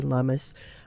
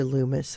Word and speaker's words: Lummis: the time even though even though it's a double m in the middle which should clue people in that it would be lumus uh for some reason they default to Lumis and so lumus rhymes with hummus is just easy so